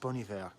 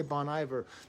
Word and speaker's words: Bon Iver: I know it's pronounced Bon Iver, but I say Bon Iver because they don't spell it properly, so I assume they're trying to goof around with the language. But don't you tell me in the comments how it's pronounced. I'm aware, but that's not how it's spelled, so I'm going to call it Bon Iver.